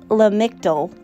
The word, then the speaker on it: Lamictal: It's pronounced Lamictal, and it's for bipolar 2.